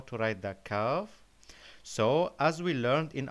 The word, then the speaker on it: كاف: Our letter for today is called Kaaf. Kaaf. The previous letter we met was called Qaf. Qaf. But this one is called Kaaf. So be careful with the pronunciation.